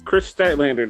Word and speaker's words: Statlander: Is that how you pronounce it? Yes, it's Chris Statlander, the alien.